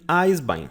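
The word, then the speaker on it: Eisbein: esse meu Esther haim Ai bem vou colocar a pronúncia aqui ai bem em Eyes behind him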